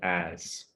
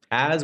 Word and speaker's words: as: Yes, the letter is an S, but the pronunciation sounds like a Z.